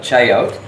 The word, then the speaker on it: chayote: I've made fries out of chayote. An awesome substitute. You might consider doing a live or video on that. Chef says chayote.